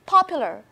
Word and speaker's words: popular: Pay attention to the syllable on the first, okay, the first syllable, popular.